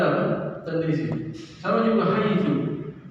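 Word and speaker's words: حيث: Sama juga haitsu. Haitsu kan sebagian orang Arab membacanya haitsi.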